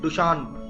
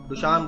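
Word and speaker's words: Dushanbe: और इसका कैपिटल है डु शन डु शन बोलते हैं इसको ठीक है ऐसा ही प्रोनंसिएशन है और स्पेलिंग आपके सामने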